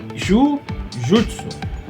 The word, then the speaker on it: jujutsu: ele veio do daiu que tinha o sobrenome Ju Jutsu porque o j a pronúncia é Gil né Gil lá PR Gil